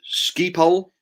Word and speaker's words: Schiphol: It's pronounced Schiphol, which is ironic, as the runway is on a bridge over a main road.